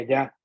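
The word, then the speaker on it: יה: El nombre que tiene Jochma es Yud-Hei y vamos a ver que Yud-Hei habíamos dicho que se pronuncia ya.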